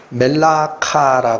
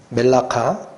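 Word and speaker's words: מלאכה: 때 일 일이 있습니다 이 단어가 히브리 원어로는 아 멜라카 읽히는 단어입니다 예 멜라카 그냥 발음만 살짝 기억해 주세 멜라카 이게에요 근데이 일이 뭐냐면에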